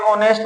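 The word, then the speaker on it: honest: अगर H silent है तो ऑनेस्ट क्या आ रहा है लिखा हुआ, इसको कैसे बोलते हैं, ऑनेस्ट बोलते हैं, यानी किसकी साउंड आ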